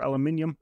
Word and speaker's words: aluminium: And so what I'm going to look for is just a suitable, this one, brushed aluminum or aluminium, depending on your pronunciation, and drag that out onto the sides.